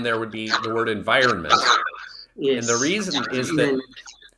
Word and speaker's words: environment: the final stressed syllable and the final stressed syllable in environment is that vi syllable so there aren't as